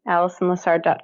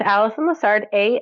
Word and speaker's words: Alison Lessard: me on my website which is my name Allison Lessard comm Allison with 1l and you'll have the